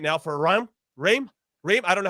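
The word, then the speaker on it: Reims: r-e-i-m-s go ahead Charlie how do I say it dream oh it's a stream it's like Tim it's Tim Reams a dream French Club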